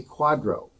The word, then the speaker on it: QDRO: in california is something called um a quadro quadro is spelled it's an acronym it's spelled qdro and the full name